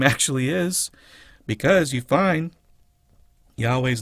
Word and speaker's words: Yahweh: Yahweh. Don't vocalize the H, but the H is only demonstrating that this is an ah sound. Yahweh. So, Yah. Don't do Yahuwah.